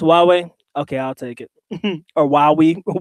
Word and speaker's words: Huawei: go I call it Hawaii or who we are why we whatever yeah I get that brand mixed up it looks like Hawaii but it's pronounced Huawei okay I'll take it